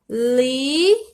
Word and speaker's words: liso: Outro exemplo, liso. Percebam, o S ele ficou com o som de Z, porque ele veio entre duas vogais.